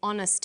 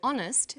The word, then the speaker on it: honest: happy man but an honest man the H is not pronounced so honest sounds like it starts with a vowel and where the value